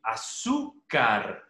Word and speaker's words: azúcar: Azúcar termina en R y la mayor elevación de voz está en la penúltima sílaba.